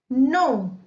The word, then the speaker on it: know: नो, KNOW, नो। यहां पर हम के को साइलेंट पढ़ेंगे तो ये हो जाएगा नो।